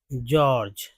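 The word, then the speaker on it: George: जैसे यहां पर देखिए जॉर्ज ठीक है जॉर्ज जॉर्ज दोनों को ज बोल रहे हैं जी यहां भी जी यहां भी जी दोनों को ज ही तो बोल रहे हैं जॉर्ज समझ में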